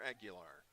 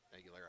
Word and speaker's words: Aguilera: Cesar Aguilar. No, Aguilera. Tackle on the play made by number 0. PA guy said it wrong.